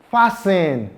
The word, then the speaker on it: fasten: We have the word, can you pronounce this? Fasten.